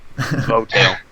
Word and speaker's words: Votale: So that is confirmed how you pronounce it. Votale.